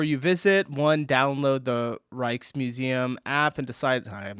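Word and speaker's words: Rijksmuseum: When you're in Amsterdam, the Reichkes Museum is something Reichkes. Reichkes Museum. Reichkes. Reichkes. So the J is silent.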